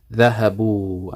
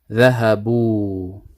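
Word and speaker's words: ذهبوا: So the fatha is changed into a dhamma to accommodate the pronunciation, so it's easier to pronounce. Dhahabu, and this wow is sakina, so it's a mad. Dhahabu.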